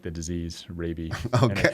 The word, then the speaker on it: Raabe: we were talking before getting my pronunciation my last name correct rabie oftentimes confused with uh many other uh pronunciations besides that so but happy to